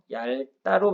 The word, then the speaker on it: 얇다: 얘는 발음 어떻게 해야 되냐면 얇다로 발음해야 돼요. 자음군 단순화를 보게 되면 리을, 비읍이 왔을 때 규칙이 있죠. 일반적인 경우에는 리을을 선택하고요. 넙둥굴다, 넙죽하다, 밟다 이런 경우에만 비읍을 선택하니까 이건 일반적인 경우라 리을로 잡아주셔야 돼요.